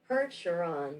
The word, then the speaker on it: Percheron: Percheron.